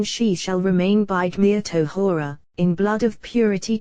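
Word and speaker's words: טהרה: shall remain by Gmir Tohora, in blood of purity. Tohora, purity, unspecified, for the final he is not pronounced, for you should not say the purity of Matronita but rather purity, unspecified.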